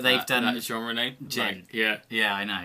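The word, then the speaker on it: djent: done a genre named Jen yeah yeah I know it's just ridiculous the amount of people when it first came out pronouncing it wrong d jen video of a sound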